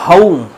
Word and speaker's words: home: যেমন ধরো হোম, HOME, আমরা সিম্পলি দেখো এর উচ্চারণ করছি হোম, কারণ ও সাউন্ড তো রয়েছে আমাদের বাংলাতে, কিন্তু এটার আরপিতে, ব্রিটিশ আরপিতে। এবং তুমি যদি ড্যানিয়েল জোনসের ডিকশনারি দেখো কি লেখা আছে, এটা হাউম হাউম অ উ, এই দুটো একসঙ্গে ডিপথং বানিয়েছে।